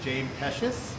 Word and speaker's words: James Pecis: I am here in Chicago with Oribe's James Pecis.